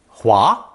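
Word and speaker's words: 滑: with the water radical creating second tone Hua Hua meaning smooth or slippery with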